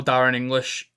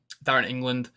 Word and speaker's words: Darren England: decision so if somehow Darren English um Darren England um I've just realized I was saying his name wrong before if they're in